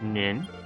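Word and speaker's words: 人: Sho, which often gets translated as quotient, but also means business or dealing, followed by hito, which in this case is pronounced nin, gives us shonin, or merchant.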